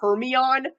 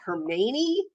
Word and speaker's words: Hermione: with me I actually started calling her hermie on and then someone once said to me that it's actually pronounced her meny so they went home